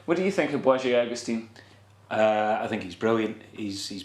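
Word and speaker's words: Błażej Augustyn: I just needed to pronounce his name correctly once. Wajé Augustine.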